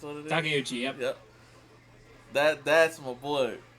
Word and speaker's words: Takeuchi: hand, and cheer on Tamari Shinosuke's main actor, Ryoma Takeuchi. I think it's what it is. Takeuchi, yep. Yep. That's my boy. That's my boy. I always mispronounce his name, but I'll be like, yeah, it's him.